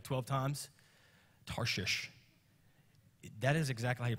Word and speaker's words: Tarshish: think pastor just messed up his speech no Tarshish that's right what makes you feel weird so that's where he went to Tarshish and he bought a ticket went on the